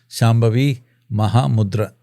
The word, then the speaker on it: Shambhavi Mahamudra: It comes with a final day of teaching a very powerful process that's called, difficult for you to pronounce, Shambhavi Mahamudra. Shambhavi Mahamudra.